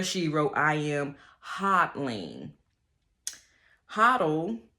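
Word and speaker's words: HODL: wrote I am hotling hoddle usually pronounced hoto simply means to buy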